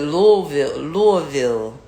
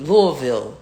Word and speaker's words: Louisville: Was it Louisville, not Louisville. He said that's not how you pronounce it. Louisville.